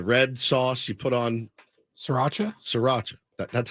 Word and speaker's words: Sriracha: Kind of slur the SR. Sriracha. Sriracha.